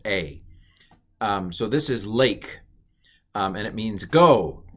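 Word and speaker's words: לֵךְ: but of course uh just to make things hard it's pronounced a don't ask questions that's a um so this is lake um and it means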